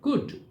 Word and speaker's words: could: एल का pronunciation नहीं होता है, कुल्ड नहीं बोलना है हमको, कुड। गुजराती में हम सिंपल माथा कुट कहते हैं, उस तरह, कुड नहीं, कुड।